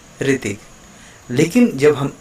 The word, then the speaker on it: ऋतिक: इस समझ पाएंगे कि जो री का जो एक उच्चारण होता है उसमें क्या फ़र्क होता है। जैसे मैं यहाँ पर एक नाम लिख रहा हूँ ऋतिक, इसको हम कैसे पढ़ रहे हैं? ऋतिक।